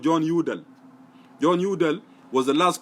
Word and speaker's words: Udal: John and then Udall is spelled U-D-A-L. So it's John Udall.